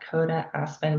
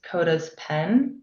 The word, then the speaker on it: Kotaspen: It's at Coda Aspen, but it's spelled like the names are smushed together. So it's KOTASPEN. And apparently, well, this is news to me, but everyone thought that it was Coda's pen.